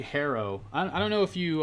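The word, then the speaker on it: Herro: for like three bucks pronounced hero it's actually harrow i don't know if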